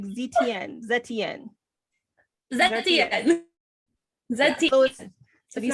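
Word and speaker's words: Zetian: No, like Zetienne. Zetienne. Yeah, so if you say it like you're French, maybe it'll work. Huh? Maybe if you say it like we're French, it'll work.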